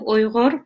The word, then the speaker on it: Uyghur: I'm Uyghur myself. A lot of people cannot even spell or pronounce the name because it's very much Arabic sound, Uyghur.